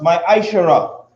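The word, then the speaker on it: מעשר: Means tenth in Hebrew and is pronounced ma'ashara.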